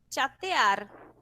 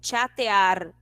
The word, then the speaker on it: chatear: para a questão fonética, lembrando que a pronúncia do CH em espanhol, a gente não pronuncia igual que português, que é o som de X, né? Mas a gente pronuncia então vamos ter chateando ou chatear e não chatear, ok?